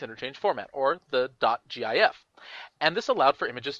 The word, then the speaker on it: GIF: in front of it it's a hard g it's gif let's move on but